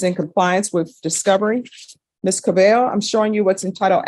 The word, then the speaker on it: Cabello: All right, and are you Miss Cabello? Yes. Am I pronouncing your last name right? Yes. Thank you. The double L's always throw me off.